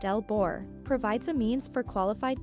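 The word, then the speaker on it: LBOR: Load break operator, pronounced L-BOR, provides a means for qualified persons to electrically isolate the primary coil from the medium voltage source.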